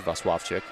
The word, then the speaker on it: Vaswavchik: A little bit of pride here as the PA announcer did not pronounce her name right. Us, Falcon Media Sports Network, have pronounced it enough that we know it's Vaswavchik.